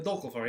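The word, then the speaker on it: Dökkálfar: And then we also have the Dalafar. The Dolphar.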